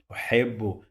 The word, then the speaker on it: أحب: This ba, it is pronounced 2 times, as you see here, and each one went to a different syllable. Okay, حبوا. So this ba, part of it go to this syllable, and part of it is in another syllable.